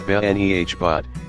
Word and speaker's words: Benebot: "With my ample frame looming, Benebot, above, pronounced Benehbot, is a customer service droid, a cross between a Teletubby and C3PO, but gleaming white.